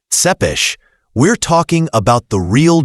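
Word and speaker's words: Țepeș: And when we mention Vlad Tepes, pronounced Tsepes, we're talking about the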